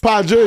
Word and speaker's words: Pahjo: So the H don't really have a meaning. Oh, it's silent? It is silent. It's Pahjo, it's silent.